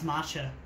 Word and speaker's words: matcha: drink it's super healthy is it not pronounced maca no it's matcha wow that damaged my